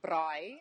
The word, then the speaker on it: braai: Like I said, we have these big cookouts that we call braai, if you say it correctly in South Africa.